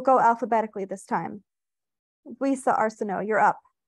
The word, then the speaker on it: Arsenault: Luisa Arsenault, you're up. She pronounced it Arsenex. Arsenault, Luisa corrected her softly. It's French.